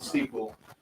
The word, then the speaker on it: Seaquell: spell it like so that's s EA q l l Sequel and kind of a play on words right it really is